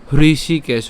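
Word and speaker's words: হৃষীকেশ: করুন আমার সাথে সাথে হৃষি কেশ এইচ আর চারে হৃষি কেশ কেশ কেন উচ্চারণ করলাম কারণ এখানে কি আছে বিসর্গ আছে আর বিসর্গ থাকলে আমাদের কি ছাড়তে হবে উষ্ম ছাড়তে হবে তার মানে হৃষি কেশ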